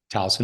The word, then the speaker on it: Towson: Kelley Thornton was born in Towson. Is that how you pronounce it? Towson, Maryland? Towson, Maryland.